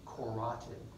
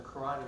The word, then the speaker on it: carotid: It's spelled carotid, pronounced carotid, not sure why.